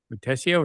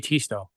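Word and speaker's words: Tiësto: the DJ that was Tess tessio is that how they say it yeah that's how they say it I thought it was DJ Tito okay however but I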